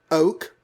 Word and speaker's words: oke: I believe oak, O-K-E, pronounced like the tree oak, actually was a slang term, if possibly an outdated one in 1967.